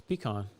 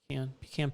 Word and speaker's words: pecan: oh how you sell how do you sell say pecan pecan or pecan it's pecan pecan pie pecan i don't know